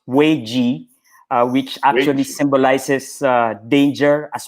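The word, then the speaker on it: 危机: is actually made of two characters and it's pronounced way G which actually symbolizes danger as well as opportunity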